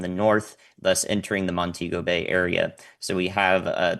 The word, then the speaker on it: Montego Bay: So on the north side in particular in Montego Bay which is how you pronounce that uh the storm surge will impact